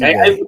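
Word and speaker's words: Liebe: name, which is uh Lieb. I think it's either Lieb or no Libe. There we go. That's how you say it. Libe.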